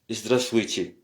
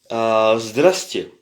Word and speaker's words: здравствуйте: Au fait, c'est pas здравствуйте, on dit здравствуйте. C'est aussi contracté, donc on dit pas tous les lettres здравствуйте, on dit здравствуйте. Donc le вуйте, здравствуйте. Au fait, si on prononce tous les lettres, c'est здравствуйте, mais c'est здравствуйте. Alors beaucoup de Russes disent presque здрасте.